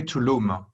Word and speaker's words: Tulum: It's spelled T-U-L-U-M. It is a city on the Riviera Maya in Mexico. But you don't say Tulum. You say Tulum.